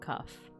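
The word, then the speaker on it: qaf: And kaf in classical Arabic, a voiceless uvular stop or plosive. This is a K that is pronounced at the soft palate at the back of the mouth rather than on the hard palate further forward, as a K normally is.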